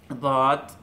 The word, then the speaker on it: ضاد: দাঁতের গোড়ায় লাগবে ضاد, আর এখানে ضاد বলার সময় এটাকে পুরো চ্যাপ্টা করে জিহ্বার আগাটা চ্যাপ্টা করে পুরোটাই উপরে লাগবে ضاد ضاد, একটু একটু আবার হাওয়াও থাকবে ওখানে, একটু একটু খোলাও থাকবে।